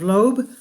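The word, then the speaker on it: Loab: and a disturbing gas her name is lobe pronounced like lobe earlobe she and she was discovered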